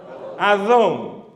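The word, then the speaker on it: אדון: Señor se dice Adón.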